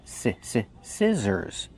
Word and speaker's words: scissors: We use the short I sound like this is, scissors. The middle consonant is the Z sound, like zebra. Make the voice, Z, scissors.